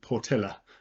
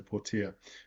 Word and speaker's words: Portilla: Miguel Leon Portia um I assume that's how you pronounce this name like Portilla um but the Spanish generally that dou L is a y so pora um it covers it